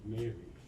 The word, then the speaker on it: Mary: But it is almost version of Mari Celeste which is often mispronounced as Mari but it's actually Mary talking about disasters.